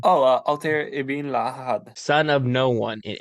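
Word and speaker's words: Altaïr Ibn-La'Ahad: Oh, Altair ibn Lahad.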